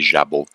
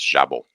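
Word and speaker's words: jabot: French word, it' be jabu. Jabu. Okay. The uh T is not pronounced. And then uh the J has more of the sound.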